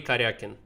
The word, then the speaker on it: Karjakin: to pronounce sergey karyakin so it's the way that i am pronouncing it so it's sergey karyakin sergey karyakin it's also